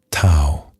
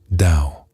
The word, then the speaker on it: Tao: The word is tao. You may also hear it pronounced dao.